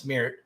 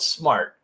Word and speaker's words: smairt: a and I got the name of our company we call it smartt everyone always misses pronounces it and they think it's smeir but it's called smartt and I got the idea to create smartt